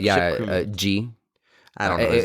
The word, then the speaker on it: Jee: G. I don't know his name. It was like it's spelled Jee.